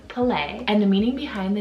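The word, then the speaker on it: Pele: PE le I would think that it's called pili but it's play and the meaning behind the name Palais she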